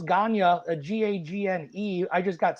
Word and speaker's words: Gagne: um my last name was just hard to pronounce ganya a g-a-g-n-e I just got sick of people